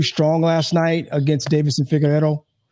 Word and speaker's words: Figueiredo: Came too strong last night against Davison Figueiredo. Figueiredo, I think is how you say his name.